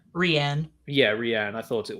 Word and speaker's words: Rian: Yeah, so the part with how do you pronounce, is it Rain or Rianne? Rianne.